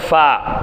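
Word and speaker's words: ف: காற்று வெளியே வராத அளவுக்கு அழுத்துனது தான் பா. காற்று வெளியே வரணும்னு சொல்லிட்டாலும் என்ன அர்த்தம்? ஒரு சின்ன ஒரு மைல்டான ஒரு கேப் நீங்கள் கொடுங்க. மைல்டான ஒரு கேப் கொடுத்தா தான் ஃபான்கிறது உங்களுக்கு உச்சரிக்க முடியும்.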